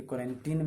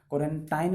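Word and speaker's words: quarantine: दिया गया है कि क्वारंटीन में रहने के लिए, क्वारंटाइन मत बोलिएगा, लिखा जाता है स्पेलिंग में TIN तो टाइन पढ़ देते, नहीं टिन होता है, प्रोनाउंसिएशन क्या होता है क्वारंटीन, टाइन नहीं, क्वारंटीन, यानी कि आपको आइसोलेशन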